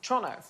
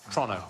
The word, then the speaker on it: Toronto: oh is it trump toronto toronto like as quick as you possibly can like it's a crime